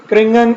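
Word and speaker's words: Kernighan: क्रिंगन, कैरिंगन या क्रिंगन, जिस तरह आप प्रोनाउंस करें, ये दोनों तरीकों से प्रोनाउंस किया जाता है।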